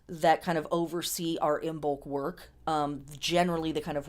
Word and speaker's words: Imbolc: So we have Imbolc is how this is pronounced.